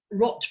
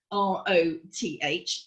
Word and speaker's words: Roth: Mieszka Rot, so you pronounce the rot part, or you spell it R-O-T-H. It sounds not Roth, but more like Rot.